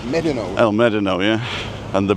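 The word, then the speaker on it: Médano: It's like people pronounce El Medano, but it's Medano.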